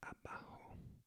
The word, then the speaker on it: abajo: And then abajo, the B is pronounced without quite closing the lips completely, so kind of a softer B, abajo, bomba.